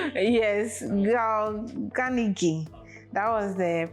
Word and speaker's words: Carnegie: Okay, I think I listened to an audio, and I think this was the pronunciation I was getting. The Ganigi. Yes, Ganigi.